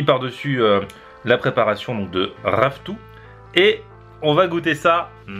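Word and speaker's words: ravitoto: qui est le premier plat qui s'appelle le raftou ça s'écrit Rav Toto mais ça se prononce raftou m'a même mis la prononciation et tout c'est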